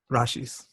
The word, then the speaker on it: rashis: little bit different right but there's also rashis rashis to pronounce it right so this is so interesting